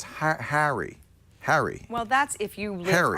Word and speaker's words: Harry's: there is a better way and it's called harry's and i really highly recommend you check it